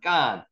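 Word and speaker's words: גַּן: 경강점 여기 지키면은 강하게 된 발음이 나죠. 그래서 쌍기역보다는 쌍기역 발음이 나가지고 깐이라고 표현했습니다.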